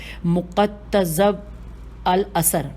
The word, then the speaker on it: مقتضب الاثر: میں ذرا ہجے کروں، میم پہ پیش ہے، قاف پہ بھی پیش ہے، پھر تے پہ زبر ہے اور پھر زواد پہ زبر ہے، کتنا مشکل ہے۔ مقتضب الاثر میں مقتضب الاثر میں